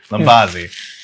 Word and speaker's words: Lumbazzi: But naturally, we Americans, myself included, we don't love to pronounce things like that. And so we've kind of stuck with Lumbazzi because it's just what everybody kind of likes to say.